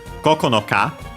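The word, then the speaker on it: 九日: The exceptions for the lower numbers are Koko no Ka, so with the number 9, also seen in Koko no Tsu, with the general purpose counter. This one is accented on Ka itself.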